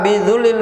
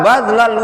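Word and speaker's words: بذل: Kemudian kata Imam Ibnu Qayyim, adapun kebahagiaan suatu ilmu itu tidak bisa engkau dapatkan, ya, illa bidzullil wus'i, melainkan dengan, ya, itu bacanya illa badlal wus'i, melainkan dengan badlal wus'i, dengan mengorbankan apa?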